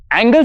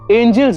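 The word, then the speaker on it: Angels: four एंगल्स इन हक्स अरे एंगल्स नहीं एंजल्स होता है कन्हैया जी स्पेलिंग एन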